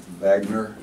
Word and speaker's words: Wagner: guys play I think I'll pronounce it properly Magna Wagner since the German he was a low